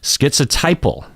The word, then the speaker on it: schizotypal: people with schizotypal personality schizotypal so we hear the tie in there skits a typo now